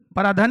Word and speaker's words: पराधीन: हम लोग सर पराधन ही लिखे। बोला हम पराधन नहीं पराधीन बोले थे।